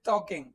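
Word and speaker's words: talking: देखना, यू are always टॉकिंग, यू are always टॉकिंग। हाँ जी, ये टॉकिंग नहीं होता, ये टॉकिंग होता है। ठीक है, इसमें एल साइलेंट रहता है।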